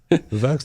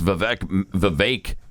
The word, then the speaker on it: Vivek: I guess he pronounces it Vivek. Okay. He's talked with Glenn many times. And I keep asking him, are you sure it's Vivek? Because it really looks like Vivek.